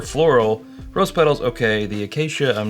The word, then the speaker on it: Acacia: say floral rose petal and arcan ar oh Acacia Acacia that's how you say it rose petal and AAA